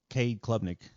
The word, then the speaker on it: Cade Klubnik: I think Cade Klubnik, is that how you say his name? Yeah, Cade Klubnik.